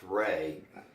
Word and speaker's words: Rea: I guess the first thing is it's pronounced Ray, but it's spelled R-E-A.